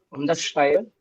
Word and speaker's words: unterschreiben: Where will be the stress? Is it unterschreiben oder unterschreiben? Nicht trennbar. Ja, unterschreiben. Yeah, on this second one. Betonung liegt. Second one. One second. On the second word. Verb. Unterschreiben. Remember, nicht trennbare Verben haben den Akzent auf das Verb und nicht auf das Präfix.